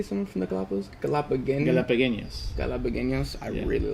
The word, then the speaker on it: Galapagueños: Galapagueños.